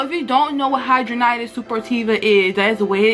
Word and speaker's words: Hidradenitis Suppurativa: this video so if you don't know what hydronitis super tiva is that is the way it is pronounced and it's also known as hs it